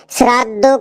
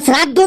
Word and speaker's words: শ্রদ্ধা: বাবা বাবাকে মা বাবাকে শ্রাদ্ধ করতে হয়। মা-বাবাকে শ্রাদ্ধ করতে হয়। কি উল্টোপাল্টা উচ্চারণ করছিস। ওটা শ্রাদ্ধ না। ওটা দেখ লেখা আছে শ্রদ্ধা।